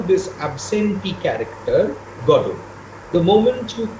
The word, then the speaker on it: Godot: would be godo godot the second syllable would be accented nevertheless uh you know